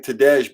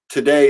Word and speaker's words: Tadej: We actually had a chat yesterday, and I've been saying Tadej, but the J, today is from Slovenia, and the J is silent. So his name is pronounced Today, which is just super rad.